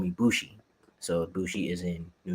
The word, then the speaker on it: Boujii: the Tommy being bushie people would like butcher the name so badly like I would be bushy uh buai and for some reason people would say bougie and that that's the